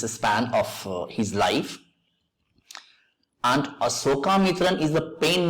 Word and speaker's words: Asokamitran: Look at the spelling, Asokamitran. So its pronunciation should also be Asokamitran, not Ashoka, not Sha, it should be Sa.